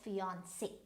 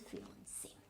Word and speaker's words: fiancé: So it can also be used, rhymed with your Beyonce, the famous singer. So it is again Beyonce. So B-E-Y-O-N-C-E, right? So this is Beyonce, and this is fiancé, right?